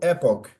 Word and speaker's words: epoch: No inglês, ela ela se ela eh é lida como epic.